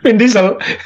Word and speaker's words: Vin Diesel: Vin Diesel, bacanya gimana itu? Apa itu? Vin Diesel.